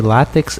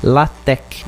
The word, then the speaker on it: LaTeX: Para fechar o anúncio, a pronúncia correta de látex é LaTeX, e látex, ou melhor, LaTeX quer dizer Lamportex, sendo